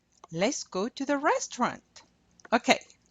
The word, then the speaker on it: restaurant: let's go to the restaurant. Okay, en français, restaurant. You do not pronounce that T.